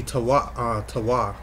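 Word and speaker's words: תו: The mark there is the word there for mark is tav. Right, is that? It would be tawa. If you pronounce it properly.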